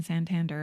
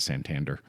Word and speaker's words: Santander: They were born in Santander, and that's where they grew up. I like that you pronounce it Santander.